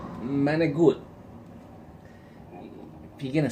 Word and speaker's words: manicotti: People pronounce it manicotti. It's not manicotti. It's manigut. Manigut.